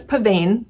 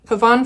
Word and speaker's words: pavane: um yeah I've been calling it pavane uh and old habits die hard so it might slip out every now and then but um I do I do value correct pronunciation of words um especially um just I I do so I'm going to try to call this paban pavon for these times um